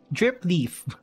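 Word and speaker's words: dripleaf: is the normal drip lift jeep drip leaf drip leaf that's how you say it okay oh my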